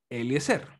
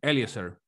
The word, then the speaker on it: Eliéser: hello my name is eliéser para algunas personas mi nombre es se pronuncia distinto en inglés algunos me dicen eliéser por mí está bien me absolutamente lo